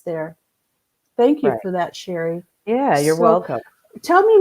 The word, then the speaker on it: Cheri: going to read it to you I'm gonna pronounce it and read it it's sherry Gartner dotnet and that's CH e RI Ga